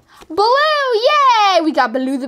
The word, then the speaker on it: Baloo: His name is, it rhymes with bamboo. Baloo, yay!